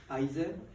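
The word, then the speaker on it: IISER: It involves 6 ISER, this is how you pronounce, and 4 Indian Institute of Research.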